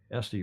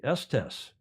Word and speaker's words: Estes: Estes rhymes with testy. Estes, Colorado.